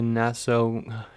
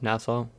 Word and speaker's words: Nassau: Okay, so we're headed back to the Nassau Coliseum. I think it's pronounced Nassau. Nassau?